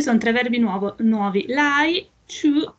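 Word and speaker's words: 去: Chu è con la Q e la U. La Q e la U, sì, scusa. Sì, si legge chu.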